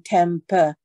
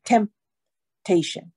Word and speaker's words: temptation: 如果你念成 temptation 就不对了哈，不是英语，所以 temp 嘴巴闭起来 temptation, OK, 好。